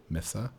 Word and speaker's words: mesa: up i don't know mason is the is the like super english pronunciation of mesa like oh really misa yeah i did not know it's a spanish word for table that's what i'm saying